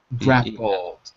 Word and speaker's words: grapple: It's just reversed, but it's pronounced as if it was P-E-L. Grappled.